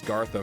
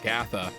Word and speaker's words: Gatha: __ ] said it Mark gatha who I've been mispronouncing as gtha for the longest time Mark gatha uh obviously kills it